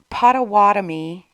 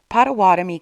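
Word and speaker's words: Pottawattamie: About a year later, we're now in the spring of 2015, and we're in Pottawatomie? I think that's how you say it. Pottawatomie County, Iowa.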